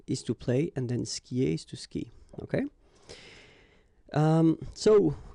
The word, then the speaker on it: skie: And then, je skie. Okay, exactly the same thing. Je skie. Okay, you've got this I, and after that you've got the vowel but then you don't pronounce it.